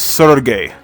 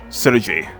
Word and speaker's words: Sergei: intro by the way you mispronounced my name it's sergey not siriji and it's kill em off not kylo love oh whatever text to